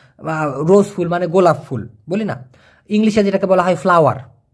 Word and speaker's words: bulan: ঠিক যেমনটি খেয়াল করে দেখুন, BULAN, উচ্চারণটা কি ভাইয়া? বুলান।